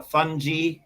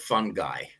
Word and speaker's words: fungi: Uh but um uh I hear it uh I hear the word fungi pronounced uh fungi sometimes. Fungi. I've also heard that. Uh and uh uh but okay we'll call it fun guy today in Spanish and according to the rules we will say funi no fun but funi yeah funi funji king kingdom will be the most accurate pronunciation but the thing is that we don't know really how Latin was pronounced so uh the the